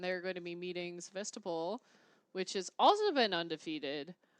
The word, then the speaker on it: Sevastopol: From Deerfield and Sevastopol.